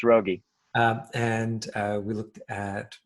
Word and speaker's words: Raugi: fabulous uh if i'm pronouncing your name wrong you know this is your chance to let me know about that no that's it it's rogie and uh we looked